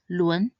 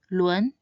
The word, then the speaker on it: 轮: Lastly, this character is read as 轮. 轮 means wheel. Its pinyin is spelled 了温轮 and it should be said in the second tone. 轮轮.